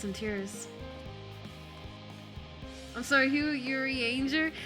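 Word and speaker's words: Urianger: say it like that i played in the japanese dub until shadowbringers and in japanese stuff they said yuri anger and i never got used to saying yuri on i never i never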